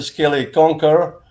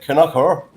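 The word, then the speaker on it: Kilconquhar: And then he goes through a wee village called Kilconquer, which the Americans say is a Skelly Conquer, and the locals cry it Canucker.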